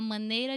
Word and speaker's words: maneira: A, open, this A that is super open, we use it a lot. A, man, like ban, but with M. Maneira, maneira, eira. Again, this A from the say, you put here on the eira.